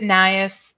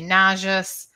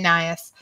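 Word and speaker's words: Najas: is nias so um i pronounce it nias some people say nauseous some people say nahas i you know these are latin names and so i'm sure you're all familiar with the the fact that you know anybody can pronounce them however they want i say naias um and these are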